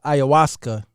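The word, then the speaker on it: ayahuasca: of y'all all right it's pronounced uh aasa here and it is a South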